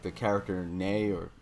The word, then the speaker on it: Nei: I actually like the whole series and like the character Nay or I pronounce it nay nei from the second game is one of my favorite characters of all time.